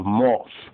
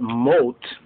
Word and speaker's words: Mot: m-o-t which means death some forms of the ashkenazi and sephardic actually have moth so almost like moss but moat insane but moat means means death in